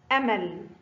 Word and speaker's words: أمل: هناك فرق بين نطق آ وعا.